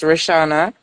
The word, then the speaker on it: Rishana: a bit differently but it's pronounced basically the same way so it's rishana um is a play on the rich um pun as well as my actual name which is rishana which is r s